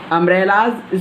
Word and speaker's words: umbrella: Umbrella's spelling is also begins with u. Umbrella. But I am pronouncing it here umbrella.